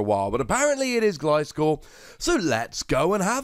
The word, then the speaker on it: Gliscor: it's one of those Pokemon that I've been pronouncing wrong for a while, but apparently it is Gliscor, so let's go and have a look, shall we?